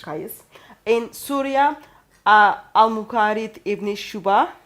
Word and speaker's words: Qais: For example, we know in Medina, Zayd bin Thabit, in Mecca, Abdullah bin Saib, in Basra, Amir ibn Abdul Quyas, sorry for the pronunciation. Qais.